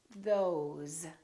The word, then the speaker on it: those: Another word is was, because, these, those, please, always. So these are some very common words that we use all the time that are spelled with an S and pronounced with the Z sound.